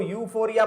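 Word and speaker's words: euphoria: हो सकती है, उसको यूफोरिया बोलते हैं। तो बात को समझ जाना, जहां जहां पे यू आता है मतलब ई, यू यू ई यहां पे साइलेंट रहता है।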